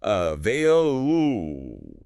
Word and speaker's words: available: And our last pronunciation word is available. A V A I L A B L E. The stress is right in the middle. Uh vail ooh.